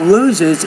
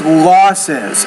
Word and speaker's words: losses: It's not loses, it's losses. Again, loses is a verb, losses is a noun, so we've discovered a pattern.